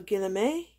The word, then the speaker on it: Guillemet: I'm guessing this should be pronounced in the French way, so Guillemet, or something to that effect.